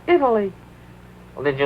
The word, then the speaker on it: Italy: Italy Italy since then Italy no no three syllables Italy well did you like